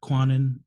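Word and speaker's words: Kwannon: you pronounce her actual name? Yeah, Quanon.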